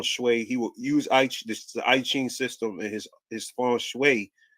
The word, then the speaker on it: I Ching: It said the I Ching or I Ching, pronounced I Ching, or book of changes.